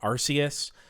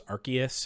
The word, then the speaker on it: Arceus: talking about Arceus uh where growing up everyone would tell me that it was Arceus and I've been hearing Arceus for my whole life but I always said Arceus and then I I found out that it actually it is officially Arceus even though they have also started in the U.S saying Arceus also um favorite Ultra